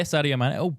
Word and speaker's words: Sadio Mané: Yeah, Sadio Mané. Oh, hey, he got a name wrong.